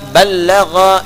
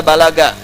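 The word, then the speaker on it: بلّغ: Dari kata ballagha yuballighu. Ya. Ballagha dibacanya, bukan bahasa Sunda balaga, ya.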